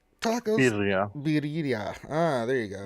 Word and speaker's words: birria: But how do you pronounce those tacos? Barilla? Tacos? Birria. Ah, there you go. Birria, yeah.